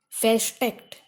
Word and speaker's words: versteckt: In such prefixes, R is not pronounced. Versteckt.